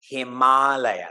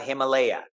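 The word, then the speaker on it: Himālaya: to me like that himala that's how you pronounce it okay it's not Himalaya it's him himal the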